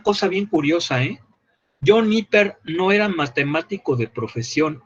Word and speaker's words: Napier: Se escribe Napier. A ver, se los voy a anotar. John Napier. Pero se pronuncia Niper.